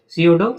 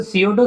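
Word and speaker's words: pseudo: सडो science P बेटा यहां पे साइलेंट है। तो सीओडो साइंस जिसको छदम विज्ञान कहते हैं।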